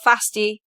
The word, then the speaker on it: Fasty: So, you are Fasty. That rhymes with pasty.